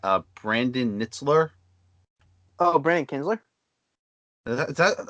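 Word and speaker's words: Kintzler: brandon nitzler oh brian kinsler that how do you pronounce that i think so is it k k-i-n-t-z-l-e-r kinsler yeah yeah uh brad boxberger and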